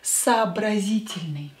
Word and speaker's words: сообразительный: And today's adjective is сообразительный. Сообразительный. Сообразительный. Сообразительный. This O and this O, of course, will be pronounced as A because they're not stressed.